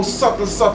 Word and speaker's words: subtle: So that's why the word subtle, just to show you how subtle is. Subtle is spelled with a B. The same sub is right there, but they make it silent. So subtle it is.